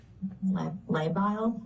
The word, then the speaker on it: labile: The next sentence here says her mood has been labile. Am I pronouncing that correct?